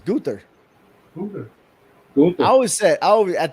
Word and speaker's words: Gunther: It's Gunther.